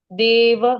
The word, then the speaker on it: देव: उच्चारण करने से देव देव हम देव बोलते हैं हिंदी में लेकिन संस्कृत में देव व पूरा बोलना पड़ेगा देव इति इति परमो